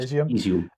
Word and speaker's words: Izium: Is it Izium? Is that how you pronounce it? Yes, Izium.